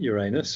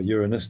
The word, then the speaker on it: Uranus: was not just about the planet Uranus or Uranus depending on how you want to pronounce it in the same